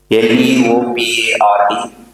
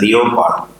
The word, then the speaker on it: leopard: Leopard, we used to pronounce it as leopard, not leopard.